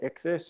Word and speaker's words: ichthys: can see that the priest created called the ichthys i don't know if you guys have ever heard of this it's it's spelled i-c-h-t-h-y-s for those who want to research